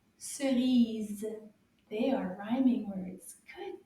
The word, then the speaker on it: cerise: Chemise, cerise. They both have the ease sound at the end. Can you repeat again? Chemise, cerise.